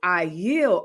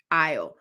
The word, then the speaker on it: Ayil: Melissa, the pronunciation of my name is Ayil. Oh, Ayil. Imagine saying Kyle without K. Ayil.